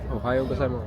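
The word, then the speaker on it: おはよう: Which one is right? Ohio. Ohio is right.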